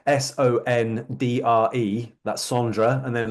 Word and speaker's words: Sondre: So his name is spelled Sondre. That's Sondra, and then Leke is spelled Lerche.